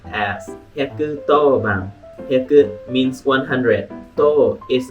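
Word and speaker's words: 110番: You will think like 110, but actually it is pronounced as 110 番. 100 means 100. To is a different way. It is an old way to read 10.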